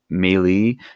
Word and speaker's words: melee: they be others there's the melee which some people pronounce melee melee is what I typically say I hear I think they're both technically correct and basically this is